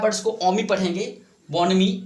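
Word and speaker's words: bonhomie: यहाँ पे जो H होता है, देखो यहाँ पे जो H है वो साइलेंट है यहाँ पे, तो इसको हम क्या पढ़ेंगे? बॉनमी। बोनहोमी नहीं पढ़ेंगे, क्या इसको पढ़ेंगे? बॉनमी।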